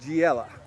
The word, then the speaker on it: Giella: School, Augusta Christian School, with Steve Giella. Pronounced it right this That is time.